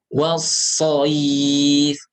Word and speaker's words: والصيف: Jangan diputus. Was-shayf was-shayf. Itu salah. Tapi إيلافهم رحلة الشتاء والصيف فليعبدوا perhatikan فليعبدوا رب هذا البيت Allazi alpo.